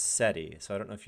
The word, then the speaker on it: SETI: ETI I don't know I know it's pronounced seti so I don't know